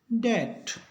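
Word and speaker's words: debt: तो इस प्रकार एम के बाद बी हो या बी के बाद टी हो तो बी रहेगा साइलेंट, इसको पढ़ेंगे बॉम्ब, इसको पढ़ेंगे कॉम, इसको पढ़ेंगे थम, इसको पढ़ेंगे डाउट और इसको पढ़ेंगे डेट।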